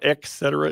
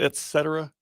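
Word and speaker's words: et cetera: It's not eetca. It's just etc with a t e t etc.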